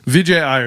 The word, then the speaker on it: Vijay Iyer: Uh, Alam Khan, Vijay Ayer, and then Nitan Mita. No, I think you got all those right. Vijay Ayer is like the only one that I'm actually